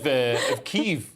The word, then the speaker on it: Kyiv: We changed pronunciation of Kyiv. Yeah, like from Kiev.